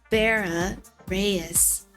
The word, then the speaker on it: Verius: Like how I just said it. Vera Reyes.